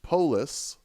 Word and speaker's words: Polis: It's pronounced Polis, like city, like Vox Populi, or Minneapolis, which is home to my favorite local game store, Lodestone Games.